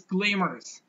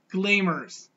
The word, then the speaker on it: glamorous: so the word is gleamers gleamers so we've to stress the first sound get Glamour's and it's